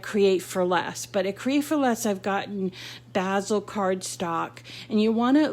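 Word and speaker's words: Bazzill: And I have been lucky to find some great color selection on what's called basil paper. It's spelled BAZZL.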